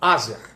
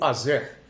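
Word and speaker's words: Aser: de Jacó um deles chamado Azer ou Azer dependendo da pronúncia né e o que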